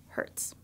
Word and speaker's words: hertz: that hurts so that's shortened to Hz pronounced Hertz electromagnetic waves are actually